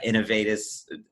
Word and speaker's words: Innovatis: joining us today is victor bonner from uh innovatus that's how you say it right that's right